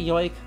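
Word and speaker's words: joik: those more throughout but you've heard it pronounced as yoik okay uh that's entirely possible i have no idea what counts what counts as a diphthong uh and what does not so well we'll say yoik uh for now because multiple people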